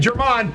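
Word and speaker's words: Germán: I think that's how you pronounce his name. German. New York. My bad, German.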